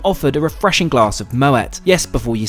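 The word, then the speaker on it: Moët: After stowing my bag, I'm offered a refreshing glass of Moet. Yes, before you say, it's pronounced with a hard T thanks to its Dutch heritage and founder Claude Moet.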